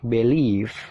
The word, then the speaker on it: believe: persatu Gimana cara bacanya Yang pertama dibaca believe nah di situ dibaca bel lele BBE Bel ada tanda petik Nah itu stressing atau penekanan jadi penekanannya itu mengarah ke Le le-nya ditekan ya jadi b-nya itu